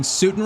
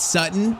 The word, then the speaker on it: Sutton: And also, yeah, I think I just realized that pronouncing I've been pronouncing Sutin wrong. It's Sutton.